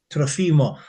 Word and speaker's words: Trofimov: But yeah, if there are multiple, Trofimov, the second last syllable is usually what you hit.